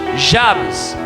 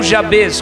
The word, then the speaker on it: Jabes: Mas no capítulo 4 existe uma pausa num homem chamado Jabes, ou Jabez, como queira pronunciar.